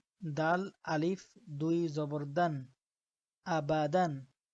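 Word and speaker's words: أبدا: তো এখানেও দেখেন, এখানে আলিফ আছে কিন্তু আলিফের উপরে কোনো নিচে কোনো কি নেই, হরকত নাই, তাই এটা উচ্চারণের মধ্যে আসবে না, তবে এটা লেখা এবং বানানের মধ্যে আসবে। আবাদান।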